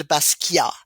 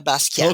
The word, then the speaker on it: Basquiat: Is it Basquiat? Yes. You would say, with a French accent, you would say Jean-Michel Basquiat, who was an amazing artist. But you can say Jean-Michel Basquiat.